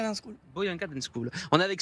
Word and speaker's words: Buyanga: J'ai bien prononcé c'est ça ? Buyanga dance School. Boyanga Dan school.